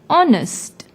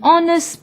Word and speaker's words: honest: see the word honest although it starts with H it is silent when we pronounce the word honest since the second second